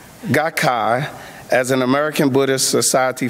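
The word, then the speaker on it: Soka Gakkai: SGI, known as Soca, and excuse me for pronouncing the name if I mess it up, Soca Gakia, Gakkai, as an American Buddhist Society for Value Creation, dedicate to peace, culture, and education.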